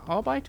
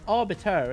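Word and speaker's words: Arbites: How do you say that? Arbite or RBT? Arbite. Adeptus. Arbite. It's orbiter, isn't it?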